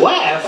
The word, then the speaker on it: West: When it comes to Batman, remember, West rhymes with best.